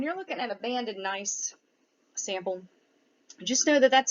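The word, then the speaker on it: gneiss: high grade metamorphic rock nice with a silent g so when you're looking at a banded nice sample just know that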